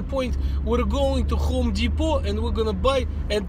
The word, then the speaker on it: Depot: Depot. What's this silent T nonsense?